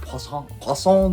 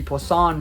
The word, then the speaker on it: Poisson: It's French. It's like Poisson distribution.